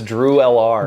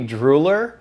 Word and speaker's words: drewlr: Everyone says Drew LR. That's what I said for a while. It was meant to be Drooler.